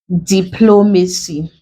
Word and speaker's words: diplomacy: Other examples, you have diplomacy. The word ends with CY. We break it into syllables. Diplomacy. This is the last, this is the second, this is the third.